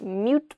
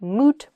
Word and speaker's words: moot: Not mute point, but moot point.